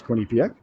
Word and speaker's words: Quinnipiac: Tell me the accent's on the first syllable. I don't know what that means. I think it's Quinnipiac.